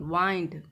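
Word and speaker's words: wind: देखो यहाँ, short I sound विंड, long I sound वाइंड।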